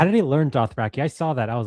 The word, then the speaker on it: Dothraki: Do you guys know how George pronounces Dothraki? No. No. He says Dothrakai. Oh. Well, Dothrakai. Well, George is wrong.